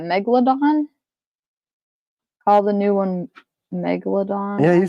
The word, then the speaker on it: Megalodon: you say that Megalodon all the new one Megalodon yeah you said it right I think that's